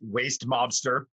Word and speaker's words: Westminster: So if you rewind a little bit, I was having issues with the Westminster Police Department. That's Westminster, Colorado. It's spelled Westminster. It's pronounced Waste Mobster.